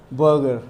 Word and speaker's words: बर्गर: वो तो पता है आर के पहले एक वोवल आता है ना, तो हम लोग उसको क्या पढ़ते हैं, आर को थोड़ा सा ऐसे साइलेंट करके पढ़ते हैं, है ना, जैसे सर, बर्गर, है ना।